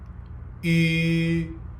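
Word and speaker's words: ü: And now round your lips. Yu. That's how you pronounce the U with the umlaut.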